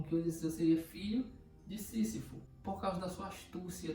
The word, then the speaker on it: Sísifo: Estamos falando do grego Sísifo ou Sísifo, tem essas duas pronúncias, né? Mas aqui falaremos Sísifo. Bom, vamos entender um pouco a história dele para começar. Sísifo, ele foi o rei